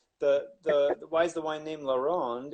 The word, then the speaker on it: La Ronde: And for those just joining us, it is pronounced Laron, not Laurent.